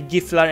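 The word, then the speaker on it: Gifflar: However, Swedish pronunciation rules dictate that a G before an I is pronounced like Y.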